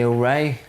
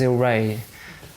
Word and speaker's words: Il Ray: the problem is in in Italian it's I think it's IL which wouldn't you wouldn't pronounce it as ill Ray so I thought it'd be funny to to spell it as ill Ray like you know ill